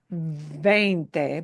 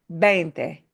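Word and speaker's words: veinte: And remember, this B chica, the small V, sounds like a B, but it's softer. Not 20, but 20. 20. You have veins in your arm.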